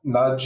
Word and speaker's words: Knudge: Yeah, Knudge is spelled with a K, so we like our silent K's, just like our ale, our kale.